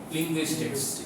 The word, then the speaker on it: linguistics: এটা বললে ভাষা বিজ্ঞান or English only linguistics. And be careful about the pronunciation and spelling.